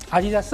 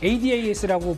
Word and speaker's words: ADAS: 4분기 실적 기대감까지도 솔솔 불고 있고 뭐 아다스라고 읽어야 될까요? ADAS 그 부품을 공급한다는데 정말 중요한 부품인가 봐요. 아디다스 아니죠? 아디다스 아니고요. 일단 ADAS라고 보통 얘기를 합니다.